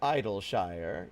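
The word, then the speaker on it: Idyllshire: Yeah, like ideal.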